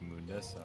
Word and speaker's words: Mundus: to mukadon Mundus there interesting pronunciation Mundus Mundus Mundus who knows I always say Mundus because that's just how I grew up reading it but I had a lot of people coming at me that say it's moonness okay like yeah I'm